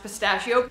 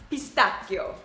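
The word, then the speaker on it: pistacchio: really good it looks like it would be pronounced pistachio but it is pronounced pistachio there's also you know one of my absolute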